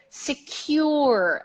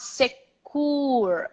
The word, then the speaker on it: secure: it comes to IT so secure not sick cooler or security QQQ the sound secure server secure server secur secur secur yeah the see you sounds like you not okay I'm not